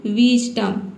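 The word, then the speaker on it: wisdom: ठीक है, विजडम, इसको हम पढ़ेंगे विजडम। यहाँ पे जो एस है इसको ज पढ़ना है।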